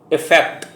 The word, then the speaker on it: effect: दूसरा इसका जो उच्चारण है इफेक्ट, EFFECT, और इस इफेक्ट का मतलब प्रभाव होता है।